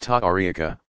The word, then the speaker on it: tariqa: Communities gathered around some prominent Sufis and eventually developed into formal organizations called tariqas, pronounced ta'ariqa, meaning path.